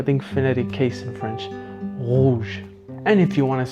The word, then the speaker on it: rouge: So it's slightly guttural, not overbearingly so, and definitely not rolled. So it's a unique, I think, phonetic case in French, rouge.